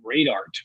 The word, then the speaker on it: Radart: And he calls it Radart, R-A-D-A-R-T, or cool. Rad Art. I think that pronunciation also works.